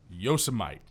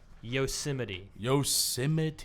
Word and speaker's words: Yosemite: Okay, I want you to say it wrong, though. Yosemite. No, that is incorrect. Ah! Some people say Yasmite. Nope. Also wrong. No. Also wrong. That would be Yosemite.